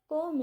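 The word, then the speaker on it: comb: कोम it properly. इसको कोम नहीं बोलना क्योंकि बी साइलेंट होता है।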